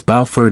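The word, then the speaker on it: Beaufort: bofer don't confuse bofer for the South Carolina town of the same name they're pronounced differently it's bford in North Carolina and have different personalities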